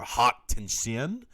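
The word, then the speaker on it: Haute Tension: have eyes he also did high tension or hot tin shin as it's pronounced now um yeah directed this film and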